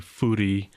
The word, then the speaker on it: Fourie: is fory uh we pronounce my last name actually Foody F cuz I am afrian speaking uhhuh and so uh